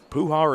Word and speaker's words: Puhar: media manager let's say puhar and guar almost rhyme but for the syllable emphasis International Champion Amanda Carroll